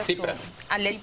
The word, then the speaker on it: Tsipras: Pero también creo que el triunfo de Alexis, ¿cómo se pronuncia? Tsipras.